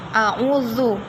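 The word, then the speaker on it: أَعُوذُ: Ternyata ini hamzah. A'udzu. Ini kan zal bukan dal.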